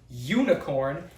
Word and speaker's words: unicorn: So the U in this case useful and unicorn useful unicorn makes a Y a Y sound.